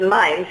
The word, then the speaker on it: Mainz: Mainz is also a city in Germany. Is a city in Germany. It's spelled differently, but it sounds the same.